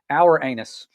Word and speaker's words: Uranus: of his name and I found out the other pronunciation for Uranus listen to this this is kind of comical our anus our what in the world I heard Uranus which that's not much better Uranus yeah two different pronunciations both are bad um but he personified